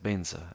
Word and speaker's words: vajra: So this is just to give you like uh the the sense that wherever it says vajra you can also recite benza and the other way around.